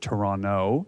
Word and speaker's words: Toronto: We pronounce it Toronto. No T at the end.